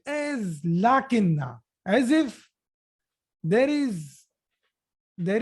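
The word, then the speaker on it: لٰكِنَّ: in the heading here a small alif will be there so that people will read it correctly they should not read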